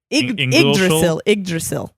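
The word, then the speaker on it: Yggdrasil: listen to pronunciation uh is it is it like igdrasil ohh yes okay so igdrasil for those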